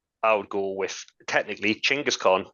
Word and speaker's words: Chinggis Khan: So I would go with technically Chinggis Khan, as it would have been pronounced Yeah, in the time.